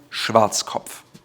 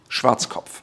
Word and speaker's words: Schwarzkopf: Again, Schwarzkopf. Schwarzkopf.